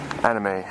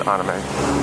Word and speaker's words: anime: It's 5 floors of all figures and statues, mostly anime. Still trying... The correct way to say it is anime, but us Americans, we love to say anime. It's just a bad habit.